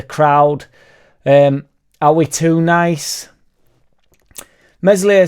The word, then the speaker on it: Meslier: Meslier Silent S left one in on there, I think it was their striker, he absolutely annihilated him.